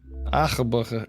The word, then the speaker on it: arbre: It looks like arbor, but when you hear it pronounced, arbre is how Google says it.